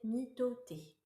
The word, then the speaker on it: mitote: Votre esprit tout entier est un brouillard que les Toltecs appellent l'an à mitote, prononcé mitoté.